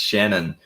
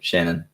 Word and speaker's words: Shanhun: knows um george my my last name's just pronounced shannon um just pretend there's no h in the middle and you and you should be good shannon um yeah so um